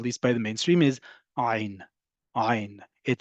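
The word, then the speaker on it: עין: But your throat is working and making a sound emitted from it as if you are. Ein. Okay, if you can't pronounce it, treat it like aleph and you're fine. Or it simply elides with whatever is around it.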